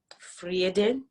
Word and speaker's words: Vrede: And honestly, I resonated with the name Vrede. It's actually how, like, if you want to like pronounce it like in the real Afrikaans language.